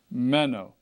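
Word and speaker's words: μένω: word mino all right notice where the the uh accent mark is on this first syllable mano okay meno meno meno all right now if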